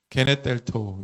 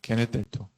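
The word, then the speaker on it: γενηθήτω: 한번 읽어볼까요? 게네텔토, 이렇게 발음한다고 말씀드렸죠. 네, 게네텔토.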